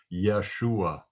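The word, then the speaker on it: ישוע: there is in english when we come to jesus name it won't be the greek version jesus but it will be the hebrew version yeshua which means salvation uh let me uh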